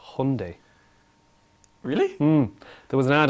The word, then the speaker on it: Hyundai: whole thing was like Hyundai like Sunday when I was in